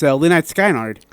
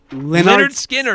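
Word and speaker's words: Lynyrd Skynyrd: know who it is and if you can pronounce the name. Oh, yeah, okay. It's Lynette Skynard. What? How did I not know that was going to go that way? Leonard Skinner.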